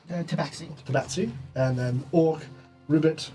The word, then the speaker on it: Tabaxi: Qatari, I don't think that's how you say it, which is Tabaxi.